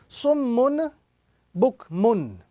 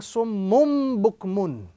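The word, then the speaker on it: صُمٌّ بُكْمٌ: So the rule is we simply join the tanween to the small meme which is appearing on top of the small ba. So instead of reciting summun bukmun, we are now going to be reciting summum bukmun.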